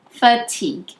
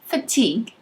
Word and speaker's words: fatigue: to be exhausted and it's pronounced with just two syllables fatigue repeat fatigue awesome so some examples